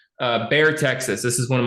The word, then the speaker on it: Bexar: And I'm not pronouncing it wrong. It's not Bexar, okay? It's just they spell it weird.